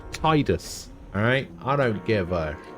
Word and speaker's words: Tidus: The creator of the character from Final Fantasy X says that it's pronounced Tidus, but it's not. It's Tidus, alright?